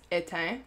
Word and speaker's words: éteint: So that's how you pronounce it, is éteint, éteint. So you don't pronounce some of the letters.